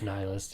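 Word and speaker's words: nihilist: at even somebody who a nist nist what however you pronounce that I think it's nylist yeah I was corrected on that yesterday I still don't like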